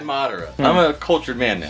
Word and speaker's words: Madara: no, I say Madara.